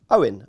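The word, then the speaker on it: Eoin: worried about that in how do you pronounce the Irish first name e io n o Owen okay Owen hi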